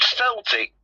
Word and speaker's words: Celtic: it um what's the football teams up there Celtic um which is it's pronounced Celtic but it's spelled Celtic and I Glasgow Rangers